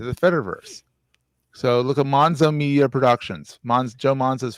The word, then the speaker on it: Monzo: Yeah, it rhymes with Gonzo. Only it's Monzo. But I thought it was M-A. Like Mon. Monzo.